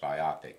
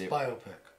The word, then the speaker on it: biopic: I mean, for example, there was a biopic made about, and my apologies to people who think it should be pronounced biopic, but anyway. It's biopic. Well, Because I saw it recently.